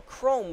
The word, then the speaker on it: Chrom: And yes, I'm pronouncing it Chrome, because the other way to pronounce it sounds really stupid.